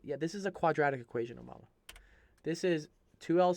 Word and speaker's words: quadratic: I don't think Rhymes with automatic. Automatic? What the? I don't. Rhymes with tragic. Or something? It's a quadratic.